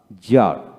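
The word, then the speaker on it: czar: মধ্যে জেড এর পূর্বে সি থাকলে সি এর উচ্চারণ শান্ত হয় না এদের শব্দ সংখ্যা কিন্তু কম যেমন সি জেড আর জার জার সে উচ্চ হলো না তারপরে জারদম জারদম তারপরে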